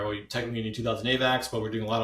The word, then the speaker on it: AVAX: quick so I think I've Heard Em and say avac so I'm going to go with the the founder and CEO says avac so avac is the right way to say it as far as I'm concerned all the avox people they they just they're making up a way of saying it to sound fancy definitely sounds fancy but um